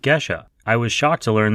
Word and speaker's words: Gesha: For today's episode of CoffeeSmarter, I asked Chris about geisha coffee. He very politely corrects me on the pronunciation, calling it Gisha.